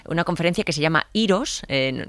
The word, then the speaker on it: IROS: Eh, en el 2018 organizamos en la Universidad Carlos Iero de Madrid una conferencia que se llama Iros. Eh, bueno, en inglés la la pronunciamos como Airos, Airos 2018.